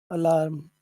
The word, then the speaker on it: alarm: what is the big what is the big sound in the word alarm oh alarm l l it's larm yeah it's larm larm okay so if so